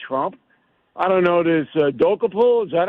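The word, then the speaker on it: Dokoupil: I don't know, this Dokapul, is that how you say his name? Dokapul, yeah.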